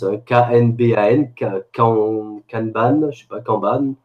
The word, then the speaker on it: Kanban: Et un truc que je vais utiliser cette année, alors je sais pas comment ça se prononce, hein, K-N-B-A-N, Kanban, je sais pas, Kanban. Kanban, c'est japonais.